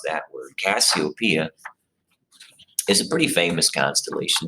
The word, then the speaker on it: Cassiopeia: even realize it now cassiopeia is how you pronounce that word cassiopeia is a pretty famous constellation it's very easily